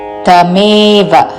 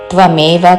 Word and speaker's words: తమేవ: తమేవ త్వమేవ కాదు, తమేవ చాద్యం పురుషం పురుషం ప్రపద్యే పురుషం ప్రపద్యే తమేవ చాద్యం పురుషం ప్రపద్యే యతః ప్రవృత్తిః ప్రసృతా పురాణీ.